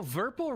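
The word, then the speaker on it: VIRPIL: The Verpal box that's next to me is very exciting. Oh, Verpal rhymes with purple.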